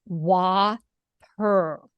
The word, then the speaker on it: Whopper: how to pronounce it the word Whopper sounds like wer wer right like w almost like you would start to say water so w and then just per like like a cat might go wer wer yeah right so um